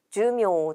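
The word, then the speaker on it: 寿命: 밑줄에 있는 단어는 목숨수의 목숨명을 써서 수명이라는 뜻이고, 이때 수는 주라고 짧게 읽고 타금이 있다는 것과 목숨명은 읽는 방법이 메이와 묘 두 가지가 있지만 수명이라고 할 때에는 묘로 읽는다는 것을 기억해 주세요. 그래서 주묘 정답은 3번이 되는 거죠.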